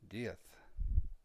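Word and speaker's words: diez: germany they pronounce it very reminiscent of the situation in spain where they have a castilian lisp the guy's last name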